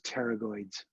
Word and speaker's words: pterygoids: right here those are those pterygoids spelled with a p for unknown reasons all right and then